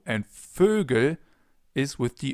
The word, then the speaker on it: Vögel: of different words, like Vögel, birds. Try to pronounce an O, so the German version of an O, and then round your lips. Ö, Ö. And you get Ö.